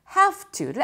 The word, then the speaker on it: have to: 근데 실제 발음할 때 워낙 빨리 마치 두 단어가 원래 한 단어였던 것처럼 발음하다 보니까 이 중간에 have 할 때 v가 그렇게 발음이 안 되고 have 밖에 발음이 안 됩니다.